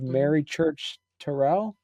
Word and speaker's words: Mary Church Terrell: out with dignity and Defiance a portrait of Mary Church Terell thank you yes that's perfect yeah that's exactly right and that's how you pronounce her name yeah okay talk to us